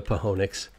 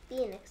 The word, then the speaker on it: Phoenix: And the Pahonix. The Phoenix. Oh, yeah. It's pronounced Phoenix, Dad.